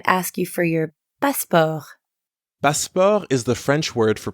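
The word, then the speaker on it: passeport: you for your passport passport is the French word for passport the pronunciation is almost the same as in English but you don't pronounce the T sound at the end is notice how the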